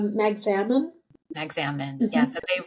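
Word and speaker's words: Magsamen: Magzamin.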